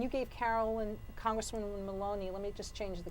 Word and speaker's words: Maloney: Am I pronouncing her name correctly? Yes, It's Maloney?